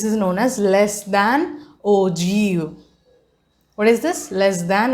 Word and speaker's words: ogive: new uh graph representation which is known as ogu what is it ogu okay this is looks like okay but its presentation pronunciation is og okay we are going